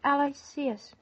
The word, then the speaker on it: Aloysius: You know, I thought it should be pronounced Aloysius.